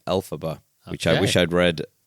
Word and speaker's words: Elphaba: pronounce, the Wicked Witch Elphaba, was created by taking the phonetic pronunciation of the original Wizard of Oz author, L. Frank Baum's initials, LFB, which became Elphaba, which I wish I'd